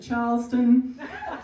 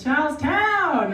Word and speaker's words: Charlestown: Lauryn grew up on the hard streets of Charleston. And during, how do you pronounce it? No. Charleston. Town? Town.